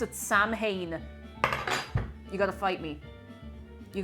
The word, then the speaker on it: Samhain: Yes, and if I ever see anybody pronounce it Samhain, you gotta fight me. You gotta fight me. It is not Samhain, it's Samhain. Samhain.